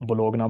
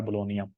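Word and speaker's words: Bologna: तो हमारे पाकिस्तानी जो स्टूडेंट हैं इसको बोलोगना बोलते हैं, तो नॉर्मली इटालियन में इसकी जो प्रोनाउंसिएशन है वो है बोलोनिया।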